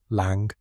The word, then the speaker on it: Lang: Lang, pronunciation, lang rhymes with song.